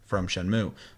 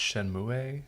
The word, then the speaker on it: Shenmue: It's Shenmue, but I know everybody calls it Shenmue. But it would technically traditionally be pronounced Shenmue.